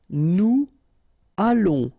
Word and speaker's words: nous allons: Nous allons, remember, final S not pronounced, O and together, it's on. And then we'll make this little link between the two, what we call the liaison.